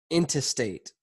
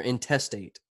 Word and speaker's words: intestate: Bam! Dying intestate. Or intestate. Yep. Just a different emphasis on a different syllable.